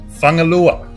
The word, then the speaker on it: Fugalei: I just went down and asked some Samoan young lads who told me it's pronounced Fugalei. So I wouldn't say it like that, but that's how we say it.